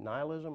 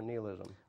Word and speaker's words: nihilism: I associate Nietzsche with, is it nihilism or nihilism? I've heard it pronounced both ways. Yeah. I usually say nihilism.